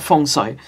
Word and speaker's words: feng shui: in feng shui right feng shui feng shui i guess that's how they say it whatever um you know because in cantonese we're called fong soy and uh in feng